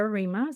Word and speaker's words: Riemer: Yeah, so I'm on LinkedIn as Reema. So my surname is spelled R for mother Eer.